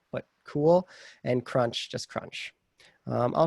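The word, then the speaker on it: CeWL: on cali are cool and crunch cool not pronounced cule but cool and crunch just crunch i'll show you guys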